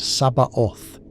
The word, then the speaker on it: Sabaoth: O is spoken with a rounder, more focused sound, bringing the lips together, and Sabaoth is articulated clearly with emphasis on the bar syllable, creating a rhythmic pulse.